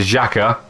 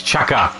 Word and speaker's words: Xhaka: But I think we just saw a penalty there for Xhaka. It's Chaka. Okay. Chaka is the right pronunciation. Oh, I'm terribly sorry. No, wait. Okay, so Xhaka corrects. The correct pronunciation is Chaka.